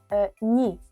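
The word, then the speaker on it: ні: Y para decir no, Decís ni, ni.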